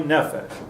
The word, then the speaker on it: nefesh: see us on a fish right itself ie nefesh person murders a nephesh right nefesh now this